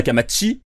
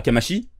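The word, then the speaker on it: Kamachi: que camatchy et d'ailleurs on devra prononcer sa camatchy et pas à kamaishi puisqu'en japonaise chie se prononcent chi j'en ai rien à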